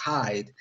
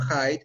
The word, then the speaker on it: Hyde: no hair height significa la pronunciación suena a esconderse no a los loros hyde de hecho hay un